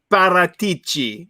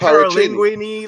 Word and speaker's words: Paratici: I don't know why everyone has such a hard time pronouncing the name Paratici. It's not that hard, Bobby. I've heard him called Paralinguini. Like, just I don't understand. Hey, I'm going to call him Paracini.